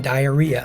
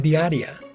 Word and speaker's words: diaria: For example, don't say rutina diarrhea, it's rutina diaria.